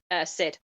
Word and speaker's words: CID: Also, since you said the just the tent name as one, should I be saying Sid or CID for this? Sid. Okay.